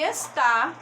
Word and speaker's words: está: tá e esta gente esta percebam que a sílaba tônica é e está a sílaba tônica é que tá inclusive e acentuada essa